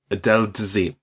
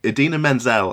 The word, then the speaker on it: Idina Menzel: Right, we've got John Travolta, who I primarily know from Pulp Fiction and also Adele Dazeem, which is when he... butchered the pronunciation of Idina Menzel, I believe.